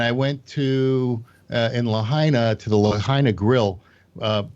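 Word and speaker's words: Lahaina: Lahina rhymes with vagina.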